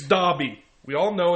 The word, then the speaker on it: Dobby: Dobie. Stop it! You call yourself a Harry Potter fan, I'd do it just to piss her off, and it's fun. and you don't say his name right. It's Dobby.